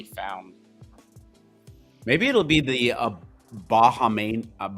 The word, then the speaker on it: Bahamian: Maybe it'll be the Bahamian. How do you say that? Bahamas? Bahamian.